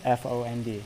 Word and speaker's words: fond: F-O-N-D. F-O-N-D. Yep. Oh, okay. I know that word. I didn't know it's pronounced fond.